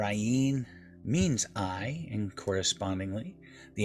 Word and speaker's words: Ayin: the pronunciation of the ien is also very significant as are all the letters and it is often mispronounced as a silent letter however ayn's correct sound is guttural it's a throat sound which stimulates the thyroid